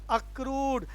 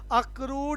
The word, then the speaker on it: accrued: अक्रूड income, pronunciation भी याद करें, अक्रूड, ACCRUED, अक्रूड इनकम।